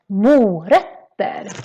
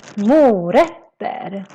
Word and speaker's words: morötter: The O in mo is quite long, mo. And then the ö, which is this letter with two dots in Swedish, that becomes very short. So it's not ö, it's more like ö, because we have two consonants coming after it. So that's why it's called morötter. Morötter.